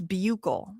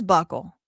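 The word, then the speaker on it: buccal: Is it buckle? I thought it was bugle. B U C A L. Be buckle. Buckle. It is buckle.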